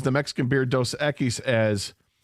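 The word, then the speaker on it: Dos Equis: My mother-in-law pronounces the Mexican beer dose ekis as cucis.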